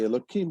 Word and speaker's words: Elokim: It is written with a Hey, but we substitute the Hey to the Kuf and say Elokim because we don't want to pronounce the name of God in vain.